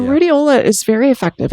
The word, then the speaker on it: Rhodiola: And then the other supplement is rhodiola rosacea. Am I pronouncing that correctly? Yeah, so rhodiola is very effective.